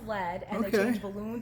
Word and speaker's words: Led: And then they took the A out of lead so that everybody would know how to pronounce lead, and they Okay.